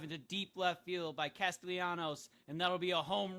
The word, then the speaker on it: Castellanos: pronounced his name wrong. It's Castellanos. Maybe you should have done the intro too.